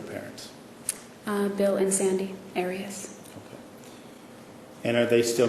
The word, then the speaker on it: Arias: we're talking here um your name has been pronounced in most of this trial areas is there another way of pronouncing it if you always always pronounced it Aras I've heard it pronounced about seven different ways um I say Aras as does the rest of my family okay well let's back